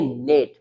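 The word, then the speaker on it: gnat: जैसे जी एन ए टी आपको पता चल गया होगा यहां पर जी साइलेंट है। इसको हम पढ़ेंगे नेट। ठीक है?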